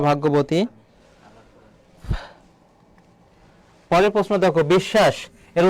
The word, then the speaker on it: বিশ্বাস: তাহলে দেখো বিশ্বাস, আমরা কি কখনো বলি বন্ধু তুই আমাকে বিশ্বাস করিস না কেন? বিশ্বাস বলি না, আমরা বিশ্বাস বলি।